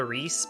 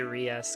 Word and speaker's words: Ries: I guess her name is one syllable Reese, but I'm gonna still say Ries because that's what I've been saying it for the entire time I've known her.